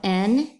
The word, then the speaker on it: new: Now the next ooh word also doesn't have the O-O in it, but it's spelled N-E-W, and it says new.